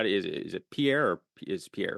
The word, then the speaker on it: Pierre: is it is it Pierre or is Pierre right I saying it right people from South Dakota people from South Dakota pronounce it Pier but I'm sure it